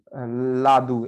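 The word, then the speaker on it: lado: जैसे लादू, एल ए डी ओ, लादू, साइड, है ना। तो उसमें हम उसको लिखते हैं लादो, लेकिन पढ़ते हैं लादू।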